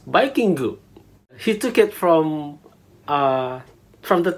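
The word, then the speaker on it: バイキング: So instead, he took the word Viking, pronounced as Vikingu.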